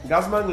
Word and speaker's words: Gassmann: ¿Cómo se pronuncia? Gazmán.